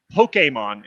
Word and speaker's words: Pokémon: Uh, first of all, Pokemon is how it's pronounced.